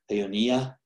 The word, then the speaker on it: Peonia: One of those is this species that it's listed as Peonia. I prefer to accent that next to last syllable, Peonia.